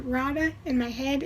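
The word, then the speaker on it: Raada: radha something like that i pronounced it rada in my head it's r a a d a rada i don't know how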